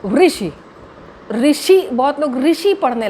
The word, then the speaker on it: ऋषि: तो ऋषि, ऋषि, बहुत लोग ऋषि पढ़ने लग जाते हैं।